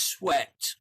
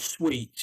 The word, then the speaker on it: sweat: So the pronunciation is sweat. So you don't want to. It's pronounced sweat like that, not sweet.